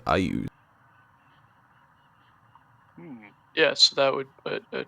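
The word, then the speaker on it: Iuz: Or sorry, I keep reading it as Luz. It's pronounced Ayuz.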